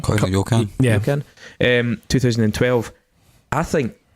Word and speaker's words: Koi no Yokan: Now, funnily enough, how do you pronounce it anyway? Koi no Yakan? Koi no Yokan.